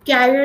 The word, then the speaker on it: carrier: Now, one thing is, Subhas, that although the pronunciation is same, but this is career. career. Yeah. Carrier is something which is there on the cycle, like the cycle seat, which is there, Hmm.